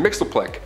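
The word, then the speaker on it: Mxyzptlk: fifth dimension close enough his real name doesn't even translate into earth's languages but we collectively pronounce it as mr mixel plick he can manipulate anything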